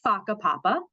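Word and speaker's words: whakapapa: So there is an activity um called it's pronounced faka papapa speaking of pronunciations but this is how it's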